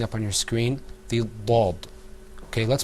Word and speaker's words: ض: Now, let's move on to the next letter, which you're going to see, inshallah, coming up on your screen, the dad. Okay, let's pronounce that letter together, too.